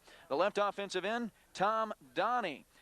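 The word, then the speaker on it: Danis: The left offensive end, Tom Donnie. His name's spelled D-A-N-I-S, but it's pronounced Donnie.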